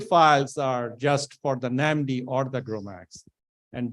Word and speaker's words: NAMD: an MD for okay it's pronounced as namdi not another solution okay